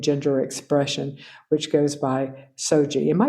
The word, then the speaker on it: SOGIE: gender identity, and gender expression, which goes by SOGIE. Am I pronouncing that correctly?